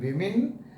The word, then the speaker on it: women: is pronounced pronounced here the o is pronounced as i in women the o is pronounced